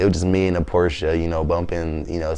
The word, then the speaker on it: Porsche: my next website i want to cop a porch so that's that's what i'm working towards right now well you gotta you gotta pronounce it right it's porsche porsche porsche oh my bad porsche i thought